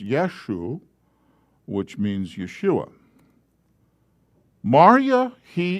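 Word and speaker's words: ܝܫܘܥ: mariah that word is who that word is pronounced yeshu which means yeshua marya he is yeshua the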